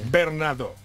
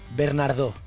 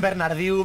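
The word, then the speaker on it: Bernardeau: Es Bernardo. Bernardo. Porque como, como te dije la última vez, es como en francés.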